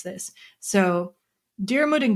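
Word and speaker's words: Diarmuid: I looked up how to pronounce this. So, Darmud and Gro were like these uh lovers and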